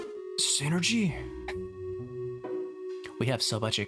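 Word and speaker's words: Psynergy: It's called sidergy? I had no idea. It's pronounced synergy.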